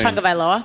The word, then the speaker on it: Tagovailoa: I can't pronounce his last name. Tagovailoa.